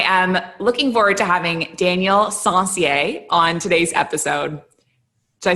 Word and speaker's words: Daniel Sencier: I am looking forward to having Daniel Sencier on today's episode. Did I say it right? That's right. Yes. Daniel Sencier.